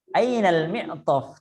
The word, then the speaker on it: المعطف: لا salah Aina bacanya. Ainal mi'taf. Tidak ada mad di situ, tidak ada yang panjang.